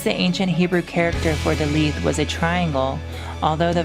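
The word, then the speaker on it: Daleth: Comment on Dalith. Dalith, pronounced Da-Lith, transcribed as D, the number 4, meaning door, the luminous intelligence.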